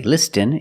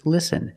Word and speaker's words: listen: see s t en with this spelling pattern you can see the t is silent listen we don't say listen it's listen and fasten example fasten